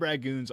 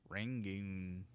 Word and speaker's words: rangoon: Crab ragoons are just American. They are. That is true. Yeah. It's an American invention. Yes. I think Hey, it's hot called. take. Isn't it called a rangoon? Rangoon.